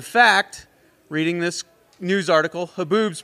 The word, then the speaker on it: haboob: In fact, reading this news article, haboobs, pronounced haboobs, are not unique to America's Sonoran Desert.